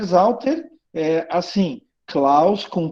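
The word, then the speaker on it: Sauter: E o Zauter se escreve com S, mas se pronuncia com Z.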